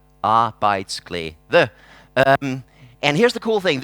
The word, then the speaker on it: Arbejdsglæde: If you're wondering how to pronounce it, it goes like this. Arbejdsglæde.